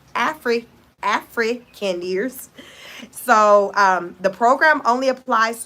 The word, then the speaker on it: Afrikaners: Afrikaners is pronounced. Thank you so much, Gobble. Afrikaners. Afrikaners.